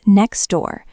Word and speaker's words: next door: If I pronounce both, it is very difficult. Next door. I have to stop my air, tap my tongue for the T, release it, and then start again for the D.